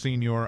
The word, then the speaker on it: Signoret: film industry and Beyond Simone soret pronounced Senor I Pender autobiography titled